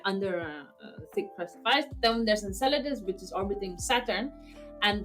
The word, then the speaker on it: Enceladus: You know anything about the is it Enclus? I don't know how to pronounce Latin names. Endless for Saturn. Dead moon. Ah, Enceladus. Enceladus.